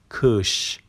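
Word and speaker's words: kış: مورد بعدی کش. نگاه کن، آی بی نقطه به صورت ا تلفظ میشه. کش اسی هم که پایینش دنباله داره به صورت ش تلفظ میشه.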